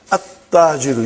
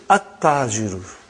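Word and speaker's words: التاجر: Okay, you did not pronounce, you skipped it. Okay. At-Tajiru. You see, your tongue has to touch, the upper part of your mouth inside. So, brother and sister, At-Tajiru.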